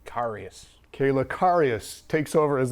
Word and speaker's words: Karius: Karius.